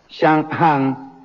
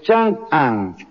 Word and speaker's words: Chang'an: Las 2 capitales imperiales del Imperio Han, Chang'an y Luoyang, lo pronuncié mal, es Chang'an y Luoyang, tenían una población de 250.000 la primera y 195.000 habitantes la segunda.